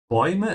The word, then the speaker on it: Bäume: Bäume is the plural of der Baum, tree. Notice how I'm pronouncing the A with umlaut and the U after it, oi.